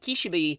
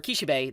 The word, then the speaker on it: Kishibe: we get to meet kishibi or kishibe that's how you say his name I'm not going to